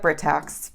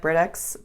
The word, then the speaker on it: Britax: tax you know and I don't even know if people pronounce at different ways but we really really like Britax Britax or Brit tax however you want to say it we have used their